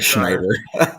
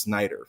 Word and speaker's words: Schneider: been doing this but my last name is pronounced Snider fun fact yeah I